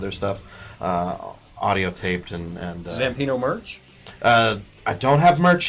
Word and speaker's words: Zampino: Zampino. It's fun because it rhymes with Gambino and Bambino.